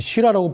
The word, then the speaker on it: Syrah: 그리고 호주를 대표하는 포도 품종은 바로 프랑스 3대 산지에서 주품종이었던 북부론의 주품종이, 거기는 SYRAH, 쉬라라고 발음하고, 호주에서는 같은 품종을 SHIRAZ, 쉬라즈라고 하는 거죠.